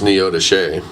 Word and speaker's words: Neodesha: I think they got married in Neodesha, which everybody that doesn't live in that area pronounces it completely wrong. What's it called? It's spelled Neodesha, but it's Neodesha.